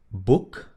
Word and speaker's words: boek: La combinación OE se pronuncia exactamente igual a la U del español. U, U, U. ¿Ok? Como en las palabras moed, boek o goed. Moed, boek, goed.